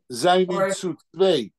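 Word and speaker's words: זײַנען צו צוויי: Seinen zu zwei. The accent is on zwei, not on the zu.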